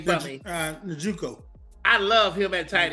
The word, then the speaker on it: Njoku: Njoku.